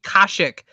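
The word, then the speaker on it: Kashyyyk: it's called what classic it's called kashic but it's spelled k-a-s-h-y-y guys what drugs are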